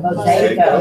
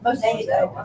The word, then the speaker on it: Mosaico: Mosaico. Mosaico. Mosaico. Mosaic, yeah. But it's not Mosaic. mosaic. Mosaic. It says it ends in an O though. Yeah. Mosaico.